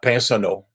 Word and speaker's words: Pinsonnault: See, I would not be able to pronounce that right there." It's Pinsonneau.